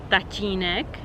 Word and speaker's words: tatínek: Again, this one might be a little bit complicated to pronounce, but it's basically very soft T with Y maybe. And also, for instance, it's included in the word tatínek, which means daddy in Czech.